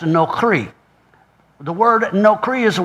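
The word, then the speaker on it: נכרי: Well, the word foreign here is the word strange, and it's Strong's number 5237, pronounced nokri.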